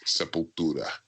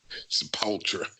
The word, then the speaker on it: Sepultura: But it's Sepultura. That's exactly right. Maybe she gets some mispronounced shirts printed for those guys. Yeah. Actually, that was kind of funny. Like those America shirts, and they'd be like Sepultra.